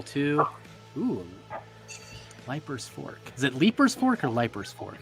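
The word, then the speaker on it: Leiper's Fork: it I'll play ketchup it is pronounced leaper's Fork deeper okay leapers like leaf but let's do another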